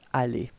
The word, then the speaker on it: allées: So allées, you put this extra E and S, but then you don't pronounce them, okay? It's allées, alright?